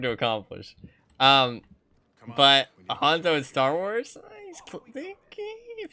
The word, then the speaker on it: Hanzo: to be sneaky like hanza is trying Hanzo I'm thinking in my mind I'm like okay what's his name say it properly say it properly Han Solo like Hanzo and then I just